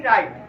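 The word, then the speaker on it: right: बाद ई आया जेम कुछ शब्दों में जी साइलेंट भी होता है साइलेंट आपको दिख रहा है एन आई जी एच टी नाई एम आई जी एच टी फाइट आर आई जी एच टी राइट clear तो इसमें क्या साइलेंट है आपका जी जी साइलेंट है क्लियर अब अपना बेटा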